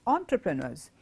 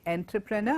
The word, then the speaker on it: entrepreneur: and they are called entrepreneurs. They prefer to start off something on their own, and I hope you see how I pronounce that word. I did not say entrepreneur, I said it is entrepreneur.